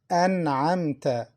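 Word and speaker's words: أنعمت: Listen, An'amta. Listen to the Noon, An'amta. Noon is pronounced clearly. Why? Because it's followed by Ayn, one of the throat letters.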